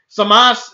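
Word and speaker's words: Zamasu: Super, I did say Samasu because the fucking dub is getting in my head now. But it's just Samas. There's lots of words that end in the U. The U is not really pronounced.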